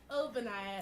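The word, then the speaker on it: Ogbonnaya: Did I get it right? Obaniah. Yeah, that's right. G is silent.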